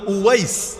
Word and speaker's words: ওয়াইস: আল কারানীকে চেনেন কে বাংলায় হয়তো ওয়াজ কুরুনি বলেন আর কি আপনারা এটা ভুল উচ্চারণ ওয়াজ কুরুনি নামে কেউ নাই ওয়েজ মানে তো বক্তা ওয়াজ মানে বক্তা এখন উনার নাম কি বক্তা ছিল নাকি বক্তা কারো নাম হয় না উনার নাম হল ওয়াইস ওয়াইস আল কারানি কারান হল